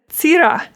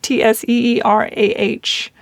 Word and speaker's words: Cira: And he said, Cira. It would be pronounced as if Tseerah.